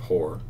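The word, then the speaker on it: Hoarr: Like, it looks like it sounds different, but when you say it, it's straight up Whore.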